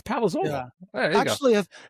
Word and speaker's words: Palazzolo: I thought it was Palazzo and I'm like, wait a minute, it's not Palazzo, it's Palazzolo. There you go. If you're Italian and you're pronouncing it with the true Sicilian accent, it's Palazzolo.